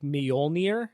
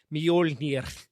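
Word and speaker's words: Mjölnir: but it's pronounced like Mjolnir. Oh like my- it's like because they roll their R's at the end.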